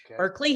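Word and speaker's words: Purklee: so it's berkeley hill it's spelled kind of funny because we spelled it authentic to family um p-u-r-k-l-e-e berkeley hill vineyards and we have a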